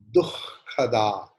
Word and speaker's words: दुःखदा: Please pay attention in the pronunciation of, in Hindi, in Bengali we say dukha. दुख. दुख हिंदी में दुख, बांग्ला में दुखो. दुखो दुखो दुखो दुखो दुखो. But in Sanskrit the pronunciation is dukhada. Dukh, because jihva mulyam will come.